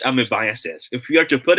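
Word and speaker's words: amoebiasis: a smirking face okay it should be pronounced as amibiases if you are to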